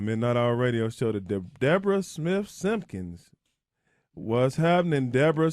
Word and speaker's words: Deborah: Oh, it's Deborah. Oh, excuse. I'm sorry, Deborah. It's pronounced like it's spelled.